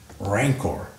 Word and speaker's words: rancor: that's all noun adjective hard C Soft C rancor rancid wow you see